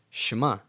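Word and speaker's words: שמע: So make sure you don't overemphasize the shva as it's never supposed to be pronounced as its own syllable.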